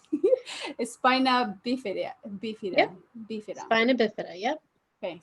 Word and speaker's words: spina bifida: You say it so nice, like Spanish, Como tú estás? You say spina bifida.